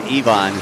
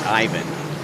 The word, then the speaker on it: Ivon: he made sure that he let us know it was Ivon, not Ivan, even though it's uh it's it looks like Ivan on the sheet. It's Ivon. It's all about the pronunciation for the country. Americans will call it Ivan and but it's correct. It's Cuban.